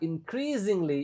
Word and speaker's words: increasingly: Small businesses are increasingly interested in implementing AI solutions. Oke, S-nya dibaca dengan jelas. Oke, lagi-lagi ini U-nya enggak dibaca. Increasingly S dibaca kayak Z.